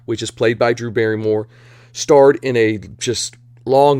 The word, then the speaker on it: Barrymore: kane and starring drew barrymore rhymes with fairy more very i don't know